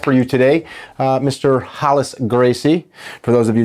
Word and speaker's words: Rolles: you today uh mr hollis gracie for those of you that don't speak portuguese it's not rallis it's hollis yes i saw a